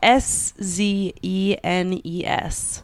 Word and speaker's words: Szenes: It's Szenes. Ooh. Szenes. I'll pause it real quick while you look it up. Hi, we're back. I figured it out. It's Szenes.